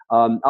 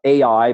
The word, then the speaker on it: Ai: Some people call it Ai, but it's pronounced I.